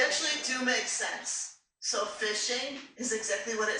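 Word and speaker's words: phishing: So fishing is exactly what it says, even though it's spelled with a a ph.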